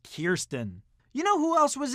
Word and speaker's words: Kirsten: Dunst from interview with the vampire yes it's pronounced Kirsten you know who else was in an interview